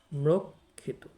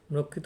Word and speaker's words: ম্রক্ষিত: ক দিলাম তারপরে ক্ষিত শব্দের শেষে ত থাকলে সাধারণত অকারান্ত উচ্চারিত হয় সেই অনুযায়ী এটির উচ্চারণ হচ্ছে মৃক্ষিত মৃক্ষিত মানে হচ্ছে মিশ্রিত প্রিয়